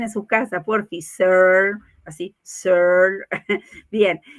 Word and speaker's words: Searle: ataque así como de caspa, así, a ver, pronuncien en su casa, porfi, Searle, así, Searle, bien, y cuánta falta nos hace para enriquecer nuestra mirada como coaches.